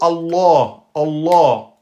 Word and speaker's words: Allah: Donc on dit fini, c'est pas la de le nom d'Allah, il est toujours prononcé de façon emphatique. On dit toujours Allah sauf quand il est précédé par une kasra.